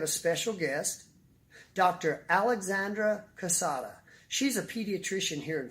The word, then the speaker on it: Cossotta: Cossotta, is that how you pronounce Yes.